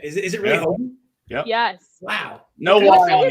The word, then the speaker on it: Hoge: Is it really Hoagie? Yep. Yes. Wow. No why it's like JJ. Hoge, but it's Hoagie.